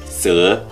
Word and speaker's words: sữa: vào chủ đề chính Âm s trong giọng Bắc được phát âm là /s/ Nhưng trong giọng Nam thì được phát âm là /ʂ/ với lưỡi cong Ví dụ như từ sữa trong tiếng Việt Trong giọng Bắc và giọng Nam đều phát âm là sữa Âm tr trong giọng